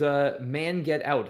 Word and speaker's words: mangetout: And that it's actually a kind of pea pod, I would probably pronounce it uh mangetout?